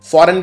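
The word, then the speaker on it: foreign: Again इसमें जी आएगा, लेकिन बोलने के अंदर जी नहीं आता, जैसे शैंपेन के अंदर था, इसमें भी जी आता है फॉरेन के अंदर।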